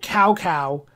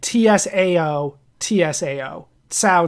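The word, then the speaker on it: Cao Cao: um I I had I did pronounce it cowcow during that and a couple people did try to correct me and they want me to say saaa like Tsao Tsao saaa um I have heard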